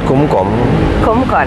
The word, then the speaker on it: Kom Koon: dari namanya dia eee kumkom Kalau tulisannya Kom koon gitu ya pengucapannya berbeda biasa ya terpeleset lidah tuh terus paling enak ya kita sebut Kumkum lagi di sini menyesuaikan dengan lidah sedikit lebih mendekat kalau di